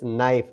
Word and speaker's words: knife: As knife, not knife. because K is silent here.